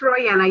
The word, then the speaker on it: Rowena: I say it Royanna. Am I saying it right or wrong? You are. It's Royanna.